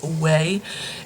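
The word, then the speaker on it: OUAI: tried a sample from wei i think that's how how you say it it's o-u-i-a way it's a brand that's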